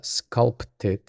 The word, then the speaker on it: sculpted: Por cierto, a nivel de pronunciación, la palabra sculpted puede ser un poco difícil porque la P está entre la L y la T y debemos pronunciarla. Sculpted.